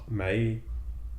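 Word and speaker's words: Mai: like Zuko and whatever may may yeah may my I always say my for some reason even though it's May it's oh okay it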